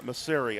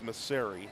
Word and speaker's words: Maseri: And I want to take the time to wish uh coach Msari uh Masseri, I'm sorry, it's Maseri is the pronunciation.